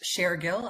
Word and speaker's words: Shargill: is shargill uh my last name is pronounced shargill as if I'm sharing information I I feel like